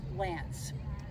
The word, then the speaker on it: LAANC: a program that's called LANC. And dang it, I don't know what it stands for. It's LAANC, pronounced LANC.